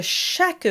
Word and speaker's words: chaque: Most often instead of de ce jour, you might see de chaque jour or quotidien. In both cases, be sure to pronounce the Q U as a K sound, chaque and quotidien.